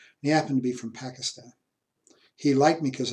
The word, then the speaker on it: Pakistan: happen to be from Pakistan he liked me because I said it Bucky stun which is he according to him is a better pronunciation anyway Pakistan and anyway